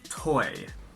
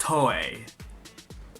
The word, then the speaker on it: Toei: end power partnership with TOEI. What this means for Power Rangers on TV. Now, let me just make something clear. It's pronounced TOEI, not TOEI, okay?